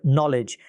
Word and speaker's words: knowledge: Just as the K is not pronounced in the word knowledge.